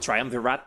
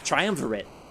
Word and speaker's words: triumvirate: I used to be like is it triumpvirate? Is it triumpvirate? It's triumvirate and it means three kings.